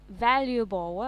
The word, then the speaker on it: valuable: Cái chữ valuable á, bà đọc là valuable. Đúng rồi, tôi hay đọc Valuable, valuable nhưng mà phải valuable.